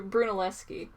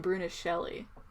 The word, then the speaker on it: Brunelleschi: is Oh that's British Bruna Shelley no Bruno les baux Brunelleschi why did I call him Bruna Shelly Brunelleschi he's like the he's an